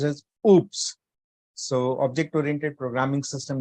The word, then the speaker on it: OOPS: called as object oriented programming system that is pronounced as oops so object oriented programming system uses oo dbms